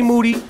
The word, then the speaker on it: Moody: Moody, last name rhymes with duty.